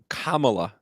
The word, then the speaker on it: Kamala: racist if you can't it's Kamala like a Kama and then law but campaign against kamla Harris has begun you'll notice they purposefully pronounce her name wrong camela Harris camea Harris camela